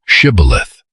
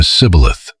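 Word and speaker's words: shibboleth: The Ephraites apparently pronounced the initial sound differently. They said something closer to cibilith.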